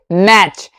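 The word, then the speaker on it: match: यहां पे टी लिखा हुआ है लेकिन बोलेंगे नहीं। इसे क्या पढ़ेंगे? मैच।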